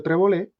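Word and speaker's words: Trebolle: le he dicho con Julio trebol o treb que se supone que se pronuncia treb él mismo lo dice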